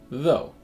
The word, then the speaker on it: though: moves to another the the first sound is between the teeth and it makes a buzzing sound V and the vowel sound is O this is the back sound that moves up a little bit as you get from the beginning of the vowel to the end of it o and you end up with though in this word of course GH doesn't make a sound similar to though is